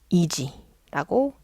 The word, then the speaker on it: 意地: 볼게요요 한자 어려워 보이죠 얘는 이지라고 읽어요 앞에 있는 한자는 뜻의